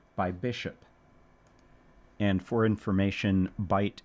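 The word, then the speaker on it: Bight: Bishop and for information bite is spelled b i g ht.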